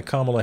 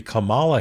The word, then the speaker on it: Kamala: an army invited by kamla Harris or excuse me Kamala Harris because he has to intentionally pronounce it wrong those of us who